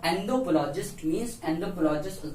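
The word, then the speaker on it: anthropologist: एंथ्रोपोलॉजिस्ट, इसको बहुत तो अलग नाम से प्रयोग से प्रोनाउंस करते हैं, लेकिन इसका जो राइट प्रोनाउंसिएशन है वो है एंथ्रोपोलॉजिस्ट।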